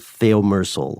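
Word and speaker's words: thiomersal: let's talk about something called theom meral or thimerosol uh as it's spelled differently in the UK and us it's an antifungal preservative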